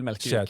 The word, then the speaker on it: Melkevik: your name, like myself, how do you formally pronounce it? Well, I say Melkevik.